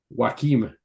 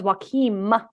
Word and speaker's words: Joachim: So one is Joaquin, one is Joachim with an N to an like. So the original was Joaquin, like Joaquin Phoenix, spelled the same way. The second one is Joachim, as in spelt differently, Joachim.